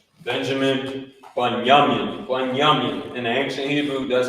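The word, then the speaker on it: בנימין: That's how you pronounce it. Right there. Right? Benjamin, Bunyamin.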